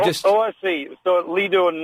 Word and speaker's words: lido: It is pronounced Leo.